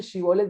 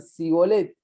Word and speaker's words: Shibolet: Shibolet, que digan esa palabra, porque sabían que la tribu de Efraín en su vocablo no decía la SH, la sh, no tenía esa pronunciación. Entonces, cuando querían decir Shibolet, decían Sibolet, y los identificaban rápidamente y